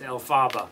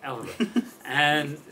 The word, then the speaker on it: Elphaba: I called her and asked her how to pronounce Elphaba, and she told me. I thought it was Elphaba. Elphaba. And she said, no, Elphaba.